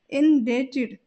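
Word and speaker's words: indebted: जाता है इन डेटेड इन डेटेड यहां पर बी साइलेंट रहेगा और हम इसका प्रोनंसिएशन इस प्रकार करेंगे इन डेटेड यानी कि बी को हम नहीं बोलेंगे भगदड़ भगदड़ को इंग्लिश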